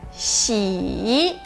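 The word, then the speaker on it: 喜: Próxima sílaba, o ideograma de alegria se escreve assim e a sua pronúncia é xi.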